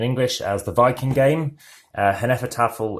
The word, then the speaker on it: Hnefatafl: as the Viking game hen effort offal is how I like to call it from snow spelling and